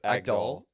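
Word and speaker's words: Agdal: it's picture pictures of Nina how do you pronounce her egg doll egg doll but just with like random celebrities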